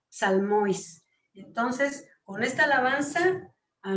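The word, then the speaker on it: ψαλμοί: Y la tenemos abajo en griego que se pronuncia salmois.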